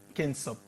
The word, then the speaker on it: Kentsop: Moi, j'ai jamais su comment on prononce ça. C'est Kensop.